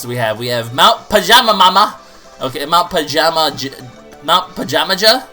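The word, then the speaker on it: Mount Pajamaja: uh what else do we have we have Mount pajama mama okay Mount pajama Mount pajama there we go that's how you pronounce it that's kind of almost a tongue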